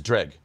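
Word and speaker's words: Dreugh: Is it Dreg? Drew? Dreg. Oh. Dreg. It's Dreg. Yeah. Dreg. That's what I've been saying. Drag. All right. It's pronounced as if it didn't have some of the letters in it.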